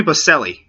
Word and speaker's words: Boselli: Jacksonville's first ever draft pick, Tony Boselli.